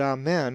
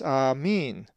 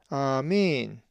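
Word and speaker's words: ἀμήν: If you said amen, as you do ending your prayers, you would be wrong, as the accent is over the eta. It is amin, amin.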